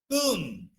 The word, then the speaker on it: tomb: అలాగే we use tomb. Can anybody remember other words? Comb, tomb, womb. So these are the words after M. When the B is there, we should not pronounce.